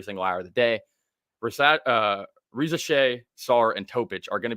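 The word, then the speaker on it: Risacher: It's Riza Shea. I think it's Riza Shea. I saw an interview and looked up on Wikipedia.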